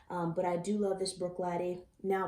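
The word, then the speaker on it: Bruichladdich: wouldn't mix that but i do love this brook latte now pronounced right that you all taught me so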